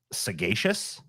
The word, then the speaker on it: sagacious: I used the word, sagacious, but I thought it was supposed to be with a soft G because sage.